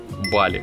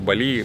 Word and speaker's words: Бали: Возможно, сейчас кого-то разочарую, но правильно все-таки говорить Бали. Ударение на первый слог. Это особенности языков, которые распространены в Индонезии. Но даже зная, как правильно говорить, я все равно совершаю ошибки, говорю Бали, потому что так как-то привычнее.